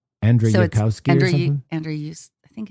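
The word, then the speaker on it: Andrzejewski: I think that the J is pronounced like a Y. Andrew Yukowski.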